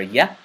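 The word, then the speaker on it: ياء: This letter is pronounced from the oral cavity, and it is characterized by a widening of the lip and the tongue not touching any part of your mouth. So it's pronounced like this. Ya. Ya. Ya. It is pretty much identical to the letter Y in the English language.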